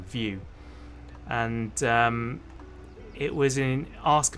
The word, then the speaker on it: VYou: There was a website called VU, which is spelled VYOU, View, and it was an Ask Me Anything website.